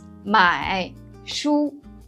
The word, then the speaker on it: 买书: For example, 买书. In real situation, you may think that 买书 would be pronounced as 买书. But in the connected speech, Chinese people don't say that. We pronounce as 买书. You could notice that the first sound, 买, we only produce the first part of the third tone, not the complete third tone.